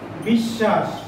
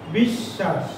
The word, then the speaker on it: বিশ্বাস: এবং এও বলতে পারি যে ব ফলাটি যুক্ত হওয়ার কারণে যে বর্ণটির সঙ্গে যুক্ত হয়েছে সেই শব্দটি দ্বিত্ব উচ্চারণ হয়েছে, অর্থাৎ দুবার উচ্চারণ হয়েছে। একটু দেখি, বিশ্বাস, বিশ্বাস।